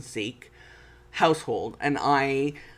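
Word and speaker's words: Sikh: into a punjabi sec sec is the proper way of pronounce and seek household and i like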